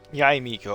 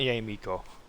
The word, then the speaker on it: Yae Miko: Yay Miko. Okay, that's how you say her name. Not yay moiko.